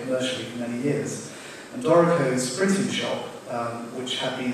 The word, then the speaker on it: Dorico: It's relatively hard to mispronounce. The only alternative pronunciation is like the corn chip snack, but please don't say it that way, as a few people have already.